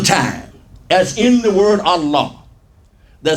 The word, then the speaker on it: Allah: this plus this and it's pronounced as La everywhere except in the word Allah all right he now